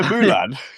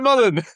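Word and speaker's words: Mullan: Peter Mulan? Mulan, yeah. Where did it come from? Milan. Peter Mullen.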